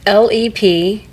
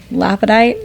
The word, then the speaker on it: lepidolite: It's LEPIDOLITE. Yeah. And it's pronounced Lepidolite. No, okay. I say lapidite, but like I said, I was wondering if you spelled it wrong, but lepidolite.